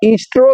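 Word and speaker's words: Eostre: देखो उसका नाम था पादरी साहब जो एंग्लो सेक्शन देवी थी उसका नाम ईस्ट्रो था ईस्टर नहीं था और उसके स्पेलिंग में भी फर्क है ठीक है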